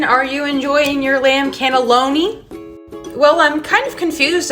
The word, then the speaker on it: cannelloni: lived in Italy so I know the proper pronunciation it's called the lamb cannellini um respectfully uh cannellini is a white bean the pasta dish is called the cannelloni sweetie come on I lived in Italy cool